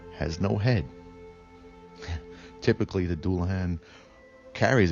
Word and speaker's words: Dullahan: We are going to take a quick deep dive into the Dullahan, pronounced Dullahan, also referred to as the Headless Horseman.